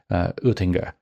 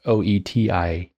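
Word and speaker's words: Oetinger: mispronounce his last name, Oettinger. I try to say it in German, but it's Oettinger. Friedrich Oettinger was one of his key predecessors to Hegel.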